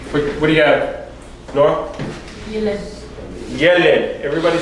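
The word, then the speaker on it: ילד: Okay, remember you have a double E, so the emphasis goes on which syllable? The first. First syllable. Okay, usually the emphasis goes on the final syllables. Okay, but because you have a double E taking place here, it goes on the first syllable.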